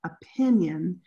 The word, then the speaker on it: opinion: someone wrote in opinion it's actually got two O's in the spelling but if you use your hand where's the stress for that opinion okay it's actually silver pin opinion even though it's spelled with two O's so it can be